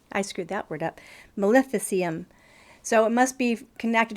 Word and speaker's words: maleficium: necromancy maleficium Melissa I screwed that word up maleficium so it must be connected to the word